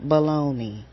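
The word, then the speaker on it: bologna: But they told us that it's spelled the way it's spelled, B O L O G N A, but it's pronounced baloney and we just accepted it as true and we rolled with it.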